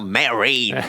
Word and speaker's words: Mérine: Mais il me semble qu'ils voulaient m'appeler Marine, mais prononcé à l'anglaise. Il y a eu un souci. Du coup, ils ont rajouté le Y derrière le A. Genre Mérine.